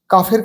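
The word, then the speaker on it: calf: silent word এল এখানে কাফের ক্ষেত্রে ঠিক তাই কাফ মানে হচ্ছে বাছুর এল এর উচ্চারণ হয় না কাফ মানে কাশি সি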